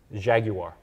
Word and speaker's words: Jaguar: a Jaguar XF that you're pronouncing it right Jaguar mmm-hmm yeah more syllables better uh yeah you know